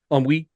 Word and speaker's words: ennui: bout of college football ennui. Is that how you pronounce that? Thanks Ennui. Ennui. Yeah, I was trying to Frenchify it, but it is the French word.